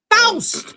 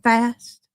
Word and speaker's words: Faust: That's a proper way to say that name instead of fast.